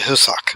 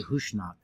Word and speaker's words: Husnak: say Hushnak. It's the Husnak, I believe. Husnak. That's how Yeah, they pronounce it in the there's- show. There's definitely an SN sound in there.